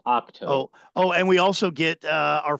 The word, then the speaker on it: Ahch-To: pronounced Ahch-To.